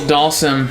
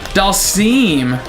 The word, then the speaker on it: Dhalsim: what toast I've never heard that interpretation Dhalsim who I don't like it it's always been sim people even call it him like sim for short can't even care if that's like the correct pronunciation it's the wrong pronunciation these sprites are still